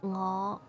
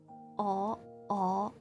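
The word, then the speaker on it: 我: Like when I say ngõ, you know? Many people don't use the no sound. They said aw. They totally omit the correct pronunciation.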